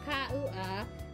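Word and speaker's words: Kauã: The name Ka-u-a is a Brazilian name and is pronounced Ka-u-a. The A indicates a nasal sound similar to an in France, but with a slightly more open mouth.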